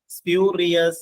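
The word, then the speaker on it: spurious: എസ് പി യു ആർ ഐ ഓ യു എസ് സ്പ്യൂരിയസ് എന്നാണ് ശരിക്കും ഉച്ചാരണം സ്പ്യൂരിയസ് സ്പ്യൂരിയസ് മീൻസ് കൃത്രിമമായ അല്ലെങ്കിൽ കെട്ടിച്ചമച്ചാൽ ഓക്കേ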